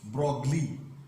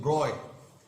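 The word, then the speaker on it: Broglie: ये French scientist हैं और इनके इस नाम में जी एल साइलेंट है। जी और एल क्या है, साइलेंट है। इसका प्रोनाउंसिएशन क्या है, ब्रॉय, लुईस डी ब्रॉय।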